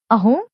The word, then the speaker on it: असम: यहाँ के निवासी इसका उच्चारण अहोम ही करते हैं।